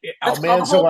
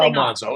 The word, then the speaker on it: Almanzo: Almanso, Almanzo, it's all the same thing.